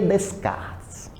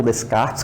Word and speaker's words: Descartes: um sujeitinho chamado Renê Descartes do ponto de vista histórico descart ou Descartes como alguns preferem né dependendo da pronúncia Descartes ele foi o fundador do